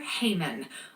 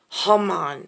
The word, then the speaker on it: Haman: queen and a villain the king's advisor heyman or as some say come on that's it haman sounds like human if you pronounce things differently and heman hates the